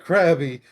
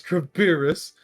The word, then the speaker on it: Crabirus: what my name's not crabby it's crabirus it's like it's it's the equivalent of saying my name's not frank it's franklin like yeah bless god i'm